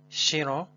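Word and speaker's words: siro: Actually, in Pazande, SI, in most of the cases, it sounds like sh. So we pronounce it shiro, which means scar, or a scar of a healed wound.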